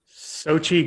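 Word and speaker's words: Xochitl: chavez that was her name yeah yeah yeah sochi gomez we had to look up how to pronounce it it's one of those names i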